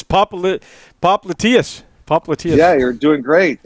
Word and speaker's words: popliteus: First of all, Rick, have you figured out how to pronounce the muscle yet? Yeah, I did. It's Popliteus.